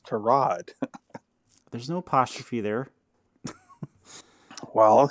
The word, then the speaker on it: Tyrod: thing and he said everybody calls me tyrod my name is tarad there's no apostrophe there